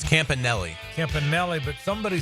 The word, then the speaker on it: Campanile: did and uh and they told me it's Campanelli and then uh Amanda was very nice and